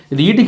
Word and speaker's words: read: रीड की second form रीड ही होती है, जैसे हम रेड पढ़ते हैं स्पेलिंग सेम होती है, तो ये READ लिखा हुआ है, ये वर्ब की सेकंड फॉर्म है।